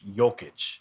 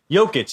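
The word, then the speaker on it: Jokić: name one more time here joke yolk joking jokic joking there you go there you go nicholas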